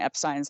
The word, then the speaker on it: Epstein: addendum to that special about how to actually pronounce Brian Epstein's last name and yes it is Epstein okay